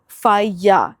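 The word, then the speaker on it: falla: मैं बता देती हूं एल जो होता है स्पैनिश में वह साइलेंट होता है। तो अगर डबल एल लिखा हुआ है तो मतलब वो या साउंड करेगा तो फाया नॉट फाट जैसे कि बेला नहीं होता है। इट्स बेया होता है।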